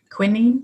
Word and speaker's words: quinine: It contains quinine, British pronunciation quinine, I think, and that is derived from the cinchona tree native to Peru.